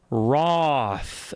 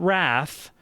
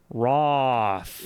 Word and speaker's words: Wrath: Pronounce Roth, not Wrath. Roth. Roth. Yeah. We're performing with a North American accent. And as all North Americans say, Roth.